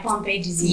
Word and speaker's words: Pompe disease: Okay, so first of all, tell us about Zayn and this, am I pronouncing it right, Pompe disease?